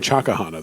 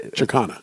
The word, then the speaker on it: Chaikhana: And You're saying Chakahana. There's not a syllable, or there's not a vowel between the K and the H. that's not, Chakana. You're sure it's not a silent I?